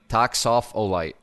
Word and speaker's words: Toxophilite: Toxolite. Toxopholite. Is that right? Yes. Soft. Okay. Thank you, Toxopholite. Chezz.